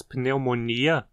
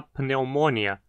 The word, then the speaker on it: pneumoniae: Apesar de em português dizermos pneumonia, com acento na penúltima sílaba, em latim a doença se chama pneumonia, com acento na antepenúltima, pois esse i na penúltima sílaba é curto.